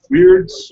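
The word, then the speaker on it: Wyrd: So have fun, get your hobby on, and possibly win some cool swag from Weird. Weird is spelled with a Y, by the way.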